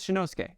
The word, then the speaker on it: Shinosuke: found nerds out there know about like crayon shinshan oh it's Shin his name is shinosuke it's Shin Okay so shinusuke everyone in